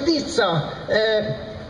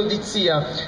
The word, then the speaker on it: D'Izzia: Telefonata tipo: signor Dizza, parentesi, questa ve la voglio chiedere, io mi chiamo Dizia, non è difficile, Dizia, uno può sbagliare a leggere l'accento, dici Dizia, però glielo dicono, di zia, è facile, no?